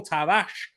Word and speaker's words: Nuno Tavares: is that to see nuno tavares nuno tavash as you've meant to pronounce it in portuguese he's um you know